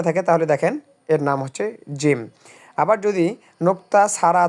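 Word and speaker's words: ح: গলার ভেতর থেকে বাতাস বের হবে এবং বাতাসের সাথেই উচ্চারণ হবে।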